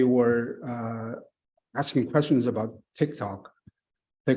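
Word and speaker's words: TikTok: uh asking questions about Tik Tok they couldn't even pronounce Tik Tok correctly uh they pronounce pronounce it as a Tic Tac um which is uh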